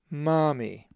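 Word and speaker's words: μάμμη: The accent is over the alpha, Mami.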